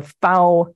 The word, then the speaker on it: FAO: The FAO rhymes with cow or now. That's how the Italians say it, so it's how the FAO employees say it, so it's how I say it.